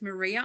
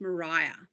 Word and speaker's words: Maria: it looks like it's Maria Island it's actually pronounced Mariah so think of Mariah Carey quite a quite a